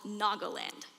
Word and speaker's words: Nagaland: And on the edge is a small orange dot called Nagoland, pronounced Nagaland.